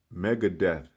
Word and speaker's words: Megadeth: That's, you know, and Megadeth. It's spelled different, but it's death. Megadeth.